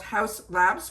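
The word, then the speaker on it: Haus Labs: It is called House Labs, but it's spelled H-A-U-S.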